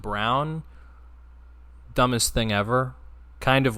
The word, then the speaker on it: Braun: But I remember last year when the Suns played the Nuggets, Christian Brown, spelled Braun but pronounced Brown, dumbest thing ever.